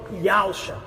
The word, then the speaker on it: Yahusha: O termo correto para o Filho do Eterno é Yod-He-Vav-Shin-Ei, transliterado para YHWXA, e é salvação de Yahweh, pronunciado pelos judeus e também agora por nós, por Yahusha.